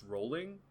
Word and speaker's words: Rowling: yeah i shudder also they saying it's pronounced rolling is it really uh i think i think that's the hard w you know i think it's just jk rowling it is rolling weird i've always hit